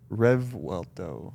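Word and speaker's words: Revuelto: you say R RTO like rev and then welto rev WTO yeah RTO RTO um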